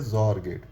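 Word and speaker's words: XOR: एक्स का pronunciation Z से भी हो सकता है, इसीलिए इसे जॉर गेट कहते हैं।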